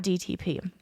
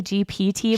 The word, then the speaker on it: GPT: I asked chat GTP. Is it TTP? I always I always say it wrong. I think I say GPT, but it's GTP.